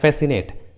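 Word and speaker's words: fascinate: जैसे सीजर्स, देखिए English word में एस और सी एक साथ आए हैं, इसलिए सी का उच्चारण नहीं हुआ है, सीजर्स। उसी तरह मसल्स, उसी तरह फैसिनेट, एसेंट, देखिए सभी इंग्लिश वर्ड्स में एस और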